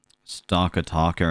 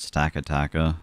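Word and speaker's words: Stakataka: dialect thing yeah um stalker talker and stack attacker that's the same thing it's the same thing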